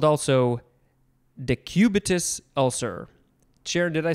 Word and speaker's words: decubitus: adequate blood supply by prolonged pressure called also decubitus ulcer chair did i say that right decubitus i said it right sweet uh those sound